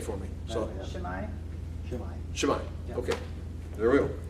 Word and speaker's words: Shimei: Well, yeah, AI is always pronounced like I. Okay, because so A has a sound of ah, and I has a sound of E, so it's I. Okay. I, so they get an I.